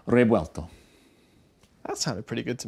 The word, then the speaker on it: Revuelto: It's yeah, so it's not Revuelto. And it's not Rebuelto with a hard B. It's a Rebuelto.